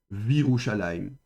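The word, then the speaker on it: וִירוּשָׁלַיִם: Donc on supprime le shva et on met le vav devant avec un chirek et on prononcera donc Virushalayim.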